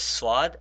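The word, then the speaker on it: ص: Now notice we have to make a differentiation between this swad and a scene because sometimes we make their sounds the same. Now the way to differentiate this is that when you say scene try to put a smile on your face. I call this I call scene a smiley letter and I call swad a frowning letter.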